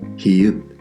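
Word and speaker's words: 히읗: Here we have: "hi-eut" "hi-eut", which we've actually seen before.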